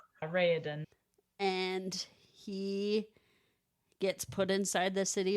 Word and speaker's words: Raoden: So the crown prince of the city right next to Elantris, the city of K, Raoden or how did you pronounce his name? Raoden.